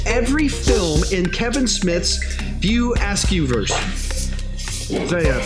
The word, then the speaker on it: View Askewverse: Name the 2 stoner characters who appear in every film in Kevin Smith's View Askewverse. Did I pronounce that correct, Cody? The View Askewverse.